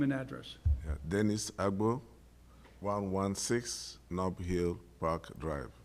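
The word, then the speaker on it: Agboh: A-G-B-O-H. And pronounce it again? Agbo. Just like it's spelled. Okay, very good.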